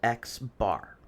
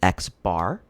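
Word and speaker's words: x̄: it's a sample mean um this is denoted x bar that's how this is pronounced it's x with a line over it it's called x bar and the formula for x bar is x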